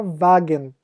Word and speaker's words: Wagen: Então, o W é o V do alemão, como na palavra Wagen, que é carro.